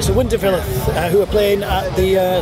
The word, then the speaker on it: Winterfylleth: at bloodstock again and we're here with uh winterfell am i pronouncing that correctly you're absolutely correct excellent i confess for years i've been pronounced it's winterfell yeah that's the incorrect way so you just